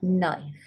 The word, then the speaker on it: knife: And you've got this one here, silent K and an N, as in knife.